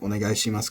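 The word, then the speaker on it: お願いします: It's much more likely to sound like onegai shimasu completely flat.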